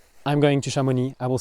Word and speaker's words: Chamonix: And so if I want to say I'm going to Shamon, I will say so at Shamon.